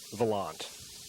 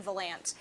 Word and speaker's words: Volant: As far as I know, Volant is the correct pronunciation for it.